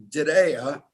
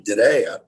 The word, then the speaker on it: Diriyah: But Diriyah, pronounced like a ray of sunshine, Diriyah, located in the capital